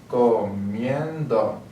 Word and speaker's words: comiendo: If you need to make sure you understand where the stressed syllable is. Comiendo. So we have to do that. Comiendo. So our stress level is going to be there. That's why we have to add an accent.